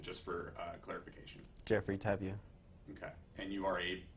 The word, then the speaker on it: Tapia: pronounce it just for uh clarification Jeffrey tabia okay and you are a Bakersfield resident yes